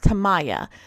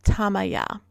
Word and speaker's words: Tamaya: When we first saw it written, we pronounced it Tamaya, but after speaking to the locals, we learned it is pronounced Tamaya.